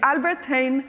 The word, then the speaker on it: Albert Heijn: Okay, so I think it's called Albert Heijn, right? Is that the way to pronounce the name? Okay, so the J is not being pronounced. Okay, so the Albert Heijn supermarket chain, they are